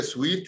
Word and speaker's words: suite: وبالمناسبه في ناس بينطقوها سويت، بيفتكروها سويت زي الحلاوه يعني، او ناس بينطقوها سوت اللي هو بدله يعني من غير الاي، لكن هي سويت اللي هي اس دبليو اس يو اي تي اي سويت. يعني شنو؟ زي سويت، زي السويت في الفندق يعني، فيه لكن اقسام